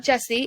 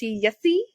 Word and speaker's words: Jesse: It's not Jesse. It's Yessi.